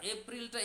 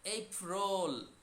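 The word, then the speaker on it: April: না চ sound March এইবার এপ্রিলটা এপ্রিল বললে কিন্তু হবে না এটা আরো ব্যতিক্রম এই রোল আমরা রোল খাই না ভেজিটেবিল রোল অমুক রোল তমুক রোল তাহলে কি বলব এইফরোল এইফরোল মেয় জুন জুলাই আগস্ট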